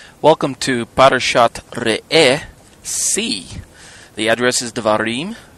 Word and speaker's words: Re'eh: In this case, say R-E-H-E-H, Re'eh.